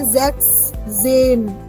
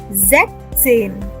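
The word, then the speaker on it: sechzehn: Because the Z already gives the S tone, na? So why to put another S over there? That is why we write Zechzen. Zechzen. We don't say Zechzen. No. We say Zechzen.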